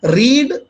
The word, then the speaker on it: read: READ ही रहेगी, रीड, लेकिन second form में इसका उच्चारण हम पढ़ेंगे रेड, जो रेड कलर होता है ना उच्चारण, वही हम पढ़ेंगे।